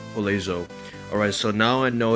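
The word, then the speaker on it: Joselu: So, his actual name is Jolezo. Jolezo it is, and Vallejo. That's what it is, Vallejo. That's his name, Jolezo.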